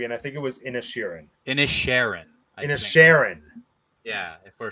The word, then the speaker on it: Inisherin: tribute to Ireland, let's talk about Banshees of Inisherin. That name, it shouldn't be so hard to pronounce, but it is. And how do you say it? One more I think time. it's Inisherin.